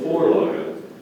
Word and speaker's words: Vorlage: The object of the Vorlage is to keep the body of the skier perpendicular to the slope.